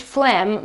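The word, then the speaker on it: phlegm: Well, we still pronounce it flamm, but we have to rem to to remember a bunch of letters that are completely silent.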